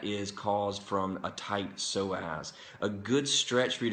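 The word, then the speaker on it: psoas: it's a big muscle called the soaz that is spelled PS OAS go look it up uh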